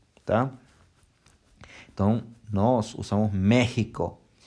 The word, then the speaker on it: México: su sonido ensinou rota exemplo méxico tem a gente não fala mexxico não sei o que esse exame norte-americano né os norte-americanos fala maxicam que tá então nosso são méxico e lembra dele estadual